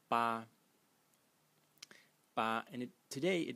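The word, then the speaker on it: 八: here which today is written like so it's pronounced ba ba and it today it means eight like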